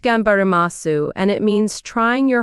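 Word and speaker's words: 頑張ります: here for 12 years what would it be genbari masu tiramisu Francesca laughs not tiramisu it's pronounced gambaramasu and it means trying your hardest to achieve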